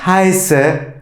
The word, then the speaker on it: heiße: Ich heiße Erhan. Evet, heiße nasıl yazılıyordu arkadaşlar? Esset ile, öyle değil mi? Ona dikkat etmemiz gerekiyor. Ve E-I nasıl telaffuz ediliyordu? I şeklinde.